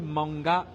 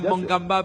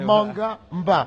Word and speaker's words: Mangamba: Attention Mermoz, il faut bien prononcer Mangamba, pas Mangamba, parce que Mangamba ça veut dire autre chose en langue gabonaise. On sait que c'est Mangamba, un nom bien composé.